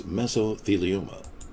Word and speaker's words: mesothelioma: The correct pronunciation is mesothelioma.